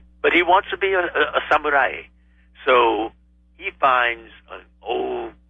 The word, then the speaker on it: samurai: it you do oh samurai yes you say that's the proper pronunciation wow and you would know well it's a broad a not uh you know